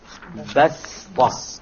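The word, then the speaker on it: بسطة: Okay, so you don't pronounce it as a sad, you pronounce it as a seen, even though it is written as a sad.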